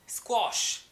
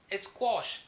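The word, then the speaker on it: squash: So guys, आज का जो वर्ड है इसे हम कहते हैं स्क्वॉश। स्क्वॉश, कई लोग इसे स्क्वैश कह देते हैं, बट ये स्क्वॉश ही प्रोनाउंस होता है।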